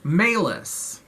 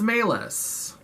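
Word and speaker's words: Malus: thing or whatever and his last name is maylis and i looked it up and it's spelled m-a-l-u-s so again talking about these movies not having subtle symbolism so his name is maylis which is just a couple letters off from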